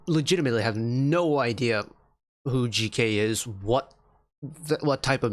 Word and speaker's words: GK: artist uh named GK almost called him JK it's GK um pronounce l how it is GK uh with the song